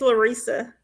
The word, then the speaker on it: Larissa: And so to answer your question, Larissa, am I saying it right, Larissa or Larissa? It's Larissa. Larissa, okay.